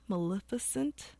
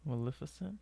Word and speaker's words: Maleficent: on the list but Disney's mif ment Maleficent Maleficent I think that's how you say it with Angelina Jolie so